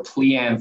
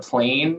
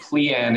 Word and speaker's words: PLIAN: sometimes mispronunciations of it we get a lot of plane and but pleian is is pretty easy to remember once you once you know how it's pronounced um you know i